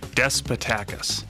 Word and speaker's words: Despotakis: uh joining me is despoticus i pronounce that right tonight close close yes i'll give you uh a for effort despatakus i've always said to when i yes that's